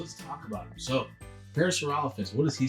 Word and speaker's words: Parasaurolophus: And Dad, I kept getting his name wrong. What was I calling him? Parasaurolophus. And it's Parasaurolophus. It is Parasaurolophus.